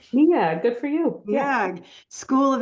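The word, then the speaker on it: Neag: professor of literacy education at the is that pronounced NE nag nag good for you school of education at the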